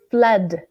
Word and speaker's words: flood: The next one, now careful with the pronunciation, it's flood.